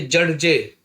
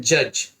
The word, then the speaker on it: judge: ठीक वैसे ही JUDGE, तो पढ़ना तो चाहिए जड जे, लेकिन पढ़ते हैं जज, तो डी कंप्लीट साइलेंट है।